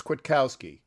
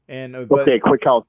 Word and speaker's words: Kwiatkowski: Apparently, it's Kwiatkowski. Kwiatkowski. Yeah, I was wrong. No. I thought it was Kwiatkowski as well, but it's a very quick A.